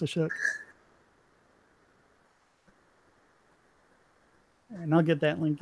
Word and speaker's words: Ashok: People calling him ASOC. It's actually pronounced Ashok.